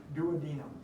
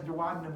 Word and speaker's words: duodenum: that you should know that that is the duodenum yes duodenum is also a correct pronunciation about this planet right I kind of